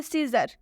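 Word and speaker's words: scissors: और भी एग्जांपल्स देखिए सीजर सीजर में भी एस के बाद से सी आया हुआ है यानी कि सी से पहले एस आया है तो इसलिए इसमें भी सी साइलेंट होगा देख सकते हैं आप यहां भी सिजर सिजर का मतलब होता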